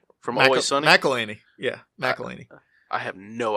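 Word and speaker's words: McElhenney: They killed Rob McHenry from Always Sunny. McElhaney.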